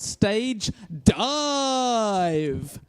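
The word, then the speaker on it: Stage Dieve: It's called Stage Dive, but it's spelt DIE-VE.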